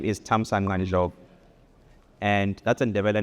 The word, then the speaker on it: Thamsanqa: There are a lot of clicks. For example, the X is a click, the C is a click, the Q is a click. So my name is Mando.